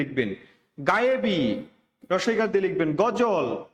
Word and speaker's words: গজল: গজল, অন্তস্থ জয়ের উচ্চারণ হবে না, বর্গীয় জ হবে।